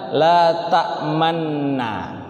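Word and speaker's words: لَا تَأْمَنَّا: Alquran itu dari kalimatnya letak Man nah la ta'manna secara kaidah itu tulisannya la ta'manna tapi secara membacanya karena ini ilmu orip Maka Bukankah tak mana tapi letak men nah Islam tuh Ya ini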